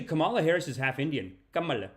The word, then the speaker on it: Kamala: Kamala. It's actually pronounced Kamala.